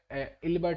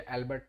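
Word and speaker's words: Ilbert: आया था ठीक है अल्बर्ट बिल नहीं है ये इल्बर्ट बिल है स्पेलिंग मिस्टेक हो गया है ठीक है अल्बर्ट नहीं है इल्बर्ट बिल है ठीक है आई एल एल ठीक है इल्बर्ट बिल है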